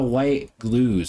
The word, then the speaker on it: White-Gluz: wolf you feed and Alyssa white glues I think is how you say the last name yep perfect so uh we never